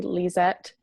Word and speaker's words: Lezette: now sure um well again my name is liette and you totally said it right um and